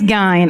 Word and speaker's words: Gein: Yeah, it's Gein.